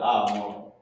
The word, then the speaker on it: amar: I was about to put amar. Amar means say. And how you say it is A-H-M-A-R. Amar.